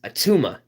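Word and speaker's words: Attuma: of huge huge Marvel fans uh known as atuma that's pronounced a-t-t-u-m-a now these water people are a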